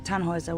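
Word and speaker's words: Tannhäuser: what's your name tanhauser we'd pronounce it tan Hooser with an umad German Roots yes my grandpa these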